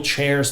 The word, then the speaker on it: Cheairs: So, you know, there's kid born and another one and the generations pass and eventually there's Nathaniel Chairs.